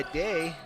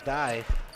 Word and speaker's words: Dye: Richard 3, in and out, and that was almost out of bounds by Day, and that bucket's good by Hart. Excuse me, that was Dye. Mispronunciation again.